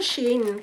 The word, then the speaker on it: Shein: Shein pala ang pronounce nito.